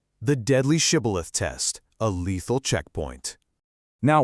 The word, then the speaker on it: Shibboleth: Their regional dialect actually lacked the SH sound entirely. So instead of saying Shibboleth, the Ephraimite would inevitably say Sibboleth.